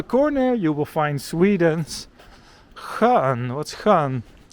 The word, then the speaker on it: skön: S-K-Ö-N. It's a nice word because it has the ch sound. Skön. Which is a bit tricky to pronounce when you just come to Sweden.